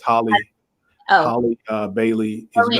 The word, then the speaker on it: Halle: I think I said Haley, but I think it's Holly. Oh, Holly Bailey is Chloe and gonna. Halle.